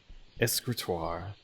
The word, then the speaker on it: escritoire: Escritoire. So it's not the E. It's not like a hard I sound.